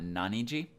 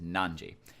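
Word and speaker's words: 何時: is our question word it is not Nani G or Nani Toki if you know the other reading for this kanji it is nan Jie and then after that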